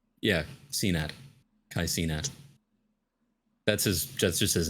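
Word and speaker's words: Cenat: one that's how you say his name yeah Cena that's his that's just his name this is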